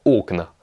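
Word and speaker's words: окна: va se transformer en au cna qui signifie les fenêtres finalement au pluriel alors vont marquer que l'accent tonique a aussi bouger il est passé de la deuxième syllabe à la première est un exemple maintenant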